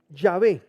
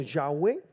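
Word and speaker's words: Yahweh: está bueno W H la pronunciación de este nombre es diversa en algunas traducciones de La Biblia nos lo transliter como yahvé lo has leído así yah en otras lo ponen como yahwe en otras como Jehová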